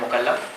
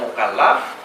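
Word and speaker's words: مُكَلَّف: Kita membacakan beda harokat A sama I saja pada lamnya, itu maknanya berbeda. Jadi kalau bacanya mukallaf, itu berarti orangnya yang diberi beban.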